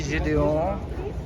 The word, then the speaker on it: Gedeon: we're in cannes it's july 12th and daisy julion the french pronunciation australian born in lebanese is introducing at